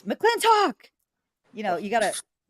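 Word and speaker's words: McLintock!: wanted to say that you weren't you weren't pronouncing the name of the movie properly it's mclen talk you know you gotta m gotell m talk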